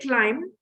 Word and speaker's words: climb: Okay, guys, and I'm saying climb. What is the word? What is the letter that is silent in the word?